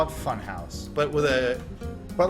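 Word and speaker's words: Funhaus: No, house is Bring spelled with people. H-A-U-S. House. House. Funhouse. Like Hauser.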